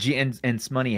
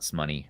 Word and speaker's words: S Money: And Smoney has it great, and I know his name's not Smoney, or it's S Money. Money. S Money. That's how you pronounce it.